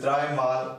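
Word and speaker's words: dreimal: is this Triple Eight how would you say that right dry man up dry mouth so it is double four Triple Eight and it is dry Mal ah okay now you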